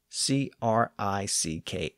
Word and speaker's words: creek: k s not Creeks Creek actually became a common pronounciation of Creek in many parts of colonial America and it still survives in some rural dialects though Creek has largely replaced that older pronunciation the interesting thing is